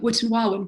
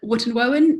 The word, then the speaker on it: Wootton Wawen: can't pronounce it properly, I keep calling it Wootton Wawen, but I've been told that's not the Wootton Wawen is the way to pronounce it.